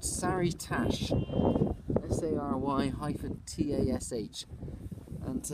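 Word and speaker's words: Sary-Tash: but this is a tiny village it's called saritash s-a-r-y hyphen t-a-s-h and to the left that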